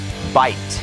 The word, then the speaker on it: bite: นั่น เอง นะ ครับ เวลา ที่ เรา ออก เสียง นะ ครับ ต้อง มี The ตอน ท้าย นะ ครับ bite อย่าง นี้ นะ ครับ เพราะ ว่า ถ้า ออก เสียง ว่า bik นะ ครับ ก็ จะ เป็น คำ ว่า by Y ที่ แปล